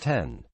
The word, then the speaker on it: iPhone X: and simultaneously introduced the iPhone X which to remind is pronounced 10 with its aggressive redesign